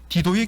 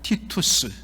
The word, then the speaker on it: 티투스: 디도의 개선문이라고 이야기했는데, 여러분, 디도 라틴어로 발음하면 티투스, 보통 우리 성경에는 디도라 그렇게 말하는데, 디도는 AD 70년에 예루살렘을 함락시키고 성전을 불태운 바로 로마 군대의 총사령관이었습니다.